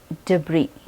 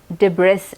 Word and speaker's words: debris: तो पहला वर्ड है डिब्री। इस वर्ड के आखिर में एक एस है, लेकिन हम वो एस नहीं प्रोनाउंस करते, डिब्रिस नहीं कहते, वो गलत है। सही प्रोनाउंसिएशन है डिब्री।